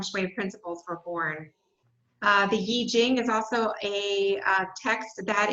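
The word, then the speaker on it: 易經: With the I Ching, Yi Jing, as it's pronounced, spelled I Ching, mudras and mantras.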